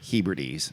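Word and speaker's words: Hebrides: It's one of the inner hees. I think I'm pronouncing that right. Not the outdoor heedes which are islands a little further away.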